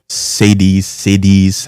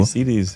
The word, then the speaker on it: cedi: Sadies. However people pronounce it. Americans pronounce it different than Ghanaian African people. CDs.